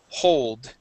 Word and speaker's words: hold: Okay, and last word here, the H in hold. Okay, that H is pronounced. You had said we don't want to hold you up. The word is hold.